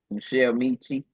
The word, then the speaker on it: Miche: Miche. How do you pronounce it? Yeah, you said it right. Okay, Miche, Mechie.